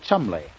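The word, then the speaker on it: Cholmondeley: a considerable study of English name in their pronunciation why you have no idea how they spelled Chumley it's c-h-o-l-c-h-o c h o c u well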